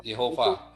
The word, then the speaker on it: Yehova: Jadi Yehova, bukan Yahweh, itu pembacanya salah. Yahweh yang benar adalah Yehova, karena di dalam Keluaran 6 ayat 4 itu Yehovanya di bawahnya itu ada tanda titik 2 yang ke bawah itu tanda